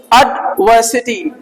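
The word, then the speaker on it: adversity: आएंगी ये क्या है एडवर्सिटी आर साइलेंट रहेगा ठीक है ना अड व सिटी व ऊपर जाएगा अड व सिटी एडवर्सिटी एडवर्सिटी आ रहा है ना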